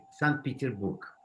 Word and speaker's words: Санкт-Петербург: How do you pronounce St. Petersburg in Russian language? По-русски это Санкт-Петербург.